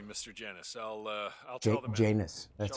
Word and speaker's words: Janus: Janus. That's how you pronounce it.